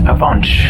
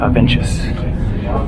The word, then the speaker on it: Avenches: how to get to it is pronounced Avance not avengers talked with the local